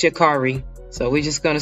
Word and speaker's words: Sha'Carri: to sound like I don't know how to pronounce her name correctly, but from my understanding, I believe it's Sha'Carri.